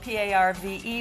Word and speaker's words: parve: for an oou and parve is spelled p a r v e but it's also spelled p r e v e so it's parve or par so everyone would know